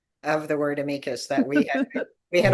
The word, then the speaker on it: amicus: had a minute pronounced amikas nicely in the middle of the sentence and then by the end of the sentence had reverted to the horrific and earsplitting amicus problem.